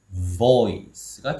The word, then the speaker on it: voice: 발음 기호를 볼게요. V, 그 다음에 C 거꾸로 IS가 왔습니다. 그럼 어떻게 해야 될까요? 그쵸? 얘는 우리가 알고 있는 voice가 아닌 o어니까 voice가 되겠죠. 어니까 voice. 그쵸? 오 발음도 아닌 어 발음도 아닌 오로 시작해서 어로 끝나는 발음이죠. 그래서 얘는 voice가 되는 거예요.